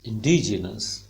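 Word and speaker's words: indigenous: इंडिजिनस का भी मैंने यहाँ आपको प्रोनाउंसिएशन लिख दी है, ड साउंड पे स्ट्रेस है एकदम, इन नीचे ही रहेगा। इंडिजिनस, ड साउंड ऊपर जाएगी, इंडिजिनस।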